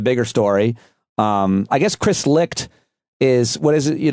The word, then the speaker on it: Licht: Is it Licht or Light? Like, do we know how it's pronounced? Have you heard it? It is Licht.